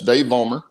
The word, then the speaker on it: Dave Vollmer: But anyway, it's Dave Vollmer, and I hope I'm saying that right. Is that correct? Yeah, that's perfect.